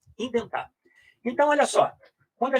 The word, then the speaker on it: indent: Pode escrever assim, indent, ident, recuar, né? Ident. Como é que é a pronúncia disso? Indent. Não é ident, é indent.